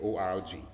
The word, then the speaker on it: org: know you see so it's important to make sure they hear that g in there org so one more time